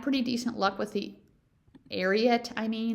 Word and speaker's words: Ariat: I've had pretty decent luck with the Ariat, I'm trying to say that right, Ariat Tech. Someone said they heard it on a commercial and that's how you say it.